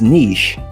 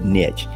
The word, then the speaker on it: niche: Now, depending on where you live, you might actually pronounce it as niche, okay? But I'm originally from Texas, and we do things a little backward in Texas. We call it niche.